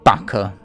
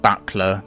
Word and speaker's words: buckler: The Blinding Bucker. Yes, I know it's pronounced buckler, but I've always pronounced it bucker.